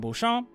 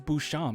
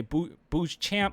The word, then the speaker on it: Beauchamp: daniels tarry eason marjan beauchamp uh hopefully i said it right right uh i think it's bouchon man i'm cr every time i hear it's bouchon but i heard people say boo boo's champ and it's like i'm